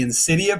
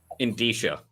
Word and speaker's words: indicia: The Insidia page. Indicia. Indisha. Look at I still can't remember. Indisha. I gota spell it out.